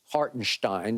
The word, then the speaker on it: Hartenstein: and to your point hartenstein is how it's supposed to be pronounced okay hartenstein they're not